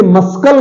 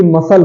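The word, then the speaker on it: muscle: अगला आते हैं मसल इसे मस्कल नहीं बोलते मस्कल मस्कल नहीं होता है बल्कि मसल होता है मसल मांसपेशियां मसल मस्कल नहीं सी साइलेंट है मसल बोलते हैं सीजर्स सीजर्स क्या एस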